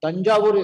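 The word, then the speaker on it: Thanjavur: have heard about tanju Tang now it's called tanjur is correct local name and Tanja is famous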